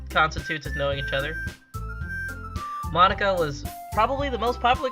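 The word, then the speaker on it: Monika: like you already know Bonica is that right you mean Monica Monica it's Monica dude well however you want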